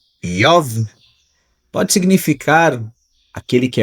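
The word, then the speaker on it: איוב: O nome Jó, que em hebraico pronuncia Yov, pode significar aquele que é odiado ou aquele que é perseguido.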